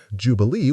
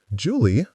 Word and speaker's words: Jubilee: Jubilee waved at Jeb. "Hi, Jeb." "Julie," Jeb said, "what are you doing here?" "Her name's not Julie, it's Jubilee," I whispered helpfully.